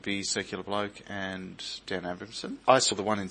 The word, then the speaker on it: Abrahmsen: And finally, we've got Dan Abramson. Oh, wow, you got my name right. Awesome. Would you like hello. to spell that for those who don't get it?